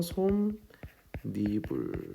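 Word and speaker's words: 솜이불: 있으니까 발음이 어떻게 된다 니은을 첨가해서 솜 리불 이렇게 발음 난다는 겁니다 자 그다음 두 번째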